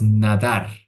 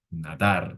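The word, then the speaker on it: נדר: se escribe en la la fonética es nadar nadar Aquí vemos la palabra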